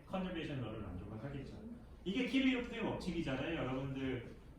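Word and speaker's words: Kirchhoff: 이게 키르요프의 법칙이잖아요. 여러분들 그 일반 물리 시간에 키르요프의 법칙 배웠잖아요. 커키컵스라. 일본 미국식으로 하면 커키컵스라고 발음을 하던데 그 사람은 어느 나라 미국 사람은 아닌데.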